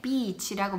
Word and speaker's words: beach: 근데 여기서 주의할 게 beach라고 말을 할 때요, beach 이렇게 말을 하면 안 돼요. 왜냐면 그렇게 하면 욕이 돼요. 그래서 해변가라고 말하고 싶을 때는 진짜 간단한 방법은 e를 발음할 때 여기에 목에 뭐라고 그래야 되지? 이게 두 라인이 딱 세워져요. 제대로 발음하면은 e라고 한번 해보세요. e라고 할 때 뭐가 혹 올라오는 게 느껴져요? 이 그러면은 비치 발음을 잘하신 거예요.